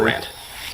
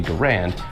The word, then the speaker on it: Garand: If you look into the English language a little bit, you have a comparable sounding word, gerund, which is spelled with UND, clearly, which is why it's pronounced gerund. This thing ends in AND, meaning it intuitively sounds like it should be pronounced Garand.